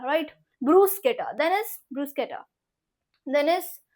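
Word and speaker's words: bruschetta: makes a के sound how इट is pronounce ब्रूस्केटा ब्रूस्केटा right so don't blame yourself for that blame the Italians what do you mean to से ब्रशेटा right ब्रूस्केटा then is ब्रूस्केटा then is खुसों खुसों इट्स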